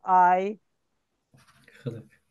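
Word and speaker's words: eigenlijk: önemli ayılık Ay ayılık bu kelime önemli bir kelime telaffuzu da genelde karıştırılıyor Ben bu tür bu tür kelimelerde bunu genelde yani şeye Türkçe olarak yazıyorum mesela diyorum ki ay hılık hı lık sadece şu H harfini H diye okuyorsunuz gerisi zaten aynı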